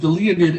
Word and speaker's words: Leonid: And Leonid is spelled just like the Leonid asteroids, the Leonids, and people are familiar with the asteroids, the Leonids. It's like it's a meteor shower. Excuse me. What am I thinking? It's a meteor shower. The Leonids. It's spelled the same exact way. Leo, like the constellation Leo, Leo. And N-I-D, Leonid.